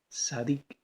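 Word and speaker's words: צדיק: cielo la palabra justo el original hebreo se pronuncia sadiq y esconde z de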